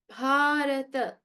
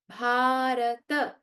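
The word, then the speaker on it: भरत: Then bharata, bharata. Not bharat, bharata. And I hope that everyone is making sure to not say the halant. So this is not bharat. In Sanskrit is bharata.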